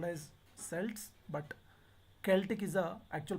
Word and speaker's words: Celtic: Sometimes it's called as Celts, but Celtic is the actual pronunciation, Celts.